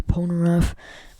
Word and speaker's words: Polnareff: If you remember the episode where Polnareff got, sorry if I'm pronouncing Polnareff's name wrong, my friend said it was wrong. I'm pretty sure I know for a mother freaking fact that's how you say Polnareff, but I might be wrong, I'm sorry.